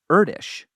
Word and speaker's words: Erdős: This limerick is a brilliant way to remember how to pronounce Erdős, because it rhymes with Kurdish.